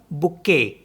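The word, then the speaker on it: bouquet: letter क्या है टी इसको भी नहीं पढ़ेंगे इसको पढ़ेंगे हम बुके बुके तो फ्रेंच में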